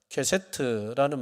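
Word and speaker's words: קשת: 케세트라는 말을 씁니다. 발음을 잘해야 됩니다.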